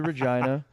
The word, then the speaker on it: Regina: The city that rhymes with fun. I went to Regina and I did have